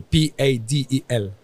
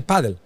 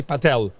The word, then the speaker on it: padel: of paddle to paddle because we pronounce paddle in Spain we say padle we don't say padel or that there are